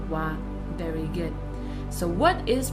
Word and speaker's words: は: So as you can see, we write it as hiragana ha, but we pronounce it as a particle as wa, wa.